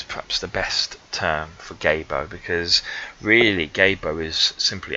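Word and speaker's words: Gebo: Right, the next one is pronounced Gabo, and this is Gabo.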